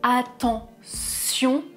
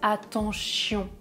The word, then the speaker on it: attention: Par exemple, attention. Très souvent, mes étudiants anglophones prononcent attention avec le son ch. Attention, prononcez bien avec le son s.